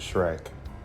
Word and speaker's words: Schreck: Max Schreck. Yes, his name was Shrek.